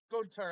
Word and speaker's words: Gunther: uh G Gunter right Gunther yes yeah g Gunter as he likes to be have it pronounced but I don't care I'll Gunther I don't [ __